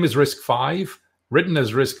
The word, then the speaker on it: RISC-V: the fifth incarnation and notice it's risk five even though it's spelled with a v uh it's a roman numeral risk one and risk